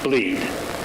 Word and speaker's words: Blead: The master branch of our repository is known as Blead, spelled B-L-E-A-D, but pronounced Bleed.